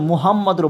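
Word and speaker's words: محمد: লা ইলাহা ইল্লাল্লাহু মুহাম্মাদুর এখানে অনেকজন মুহাম্মাদুর বলে তো মুহা এখানে হা আছে যেটি কন্ঠনালী থেকে আপনার উচ্চারণ হবে মুহাম্মাদুর মুহাম্মাদুর মিম পেশমু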